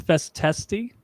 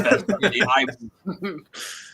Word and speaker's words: festisti: I thought it was festesti. It is festisti.